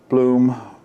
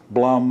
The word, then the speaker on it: Blum: on them i have the bloom blum however you want to pronounce it hinges now i did